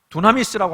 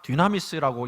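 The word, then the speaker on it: δύναμις: 두나미스라고 하기도 하고 디나미스라고 하기도 하는데, 좀 발음을 정확하게 디나미스라고 이야기할 수가 있어요.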